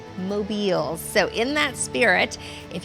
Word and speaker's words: Mobiles: Jay says the number one question he gets is how you say the name. Is it mobile or mobiles? And he says it is mobiles.